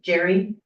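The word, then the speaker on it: Jere: that correct yes is but it's pronounced the same way as if it was spelled j e r r y as in Jerry is pronounced Jerry there's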